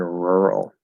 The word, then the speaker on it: rural: I, however, would not naturally make it into an oo sound.